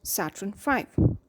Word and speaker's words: Saturn V: The giant rocket that will take the astronauts to the moon is called Saturn V, pronounced Saturn V.